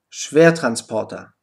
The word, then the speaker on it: Schwertransporter: Beispiele immer Wetter 100 Schwertransporter beachte beim Wort schwertrans Porter dass das erste er betont ist und er ausgesprochen wird am Ende steht das unbetonte er mit der Aussprache a jetzt möchte ich dir